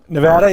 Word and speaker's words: Nevada: home for me am i saying it right nevada you got it right right there was no